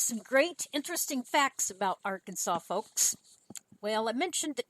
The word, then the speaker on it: Arkansas: mispronounce a state name it is Arkansas now I need to make sure my husband knows that this is a law because he always wants to call it Aransas it is not Aransas